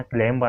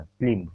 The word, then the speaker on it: climb: इसे जो है याद रखना, क्लेम यानी होता है चढ़ना, क्लिम।